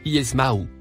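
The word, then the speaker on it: يسمع: Le premier mot, en surbrillance bleue, se prononce Yesmaou.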